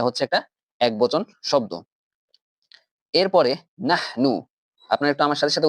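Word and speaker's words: نحن: এরপরে নাহনু। আপনারা একটু আমার সাথে সাথে উচ্চারণ করুন। নাহনু, নাহনু। আমাদের মাঝখানের হাটাকে হচ্ছে ঠিক রাখতে হবে, হায়ের উচ্চারণটাকে ঠিক রাখতে হবে এবং হায়ের উচ্চারণটা সাধারণত হয় এপিগ্লটিস থেকে।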